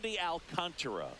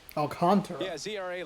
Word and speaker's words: Alcantara: Sandy Alcantara Alcantara. Alcantara last year was a little That's me. That's English Sean. That's American Shawn just going Alcantara. It's like well, you know, a smoother way to pronounce it able to repeat that